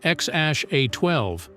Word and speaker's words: X Æ A-12: Elon Musk and Claire, as Grimes, claim the correct pronunciation is X-A-12.